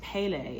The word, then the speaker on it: Pele: It says about the goddess, it's Pele is how you pronounce it.